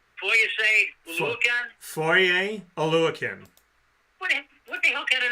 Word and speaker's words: Foye Oluokun: And because I went up to him and I said Foye Oluokun, and I had said it right, and I was like, yeah, I heard a lot of people don't say it right.